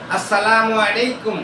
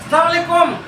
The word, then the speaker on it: আসসালামু আলাইকুম: ভ সালাম দিতে পারবেন আপনি বলেন আসসালামু আলাইকুম ওয়ারাহমাতুল্লাহি ওয়াবারাকাতুহ এটা হল সালামের সঠিক উচ্চারণ আর এই সালামলাইকুম সালামু আলাইকুম এটা কিতা দিলেন সালাম শব্দের অর্থ হল